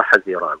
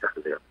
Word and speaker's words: حزيران: ويقولون أيضا شهر حزيران، يقولون الصواب معنا طبعا لفظة عجمية لكن ضبطها حزيران وليس حزيران. لماذا؟ هكذا سمعت. أي هكذا خلقت، نطق بها القوم هكذا حزيران، فليس لنا أن نضم الحاء.